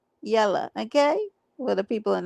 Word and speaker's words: Yella: Make sure that when you spell it right. It's Yella. Yella.